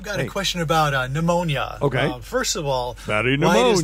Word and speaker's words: pneumonia: a question about a pneumonia first of all pneumonia start with a silent P right um well I